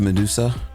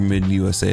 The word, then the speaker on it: Medusa: Next up, we have Medusa, or Mid USA as I pronounced it the first time.